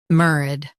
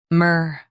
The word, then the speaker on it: MERAD: Both US and UK have the same pronunciation of this word, MERAD. Now read the syllables shown on the screen naturally. MERAD, MERAD. Stress MER and keep ad soft.